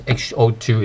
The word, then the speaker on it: 嗜好: So how do you say hobbies or hobby in Cantonese or in Chinese? We call it 嗜好. Ho actually has a changed tone. It's not HO2 anymore.